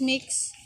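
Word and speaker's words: Mx: etc that is gender-neutral pronounce mix similar to miss it is often the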